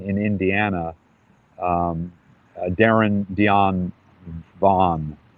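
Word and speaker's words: Vann: We think he's a man in prison in Indiana, um, Darren Dion Vaughn. It's spelled Van, V-A-N-N, but he pronounces it Vaughn.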